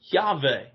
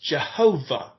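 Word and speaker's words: Yahweh: y h and so it is pronounced by many as jave later to become known as jehovah jehovah is believed to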